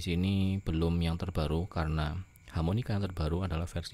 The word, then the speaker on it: HamoniKR: Ya, ternyata ini cara bacanya adalah harmonika karena asal katanya adalah harmonika. bahasa Koreanya harmonika tapi dicombine dengan huruf KR untuk Korea.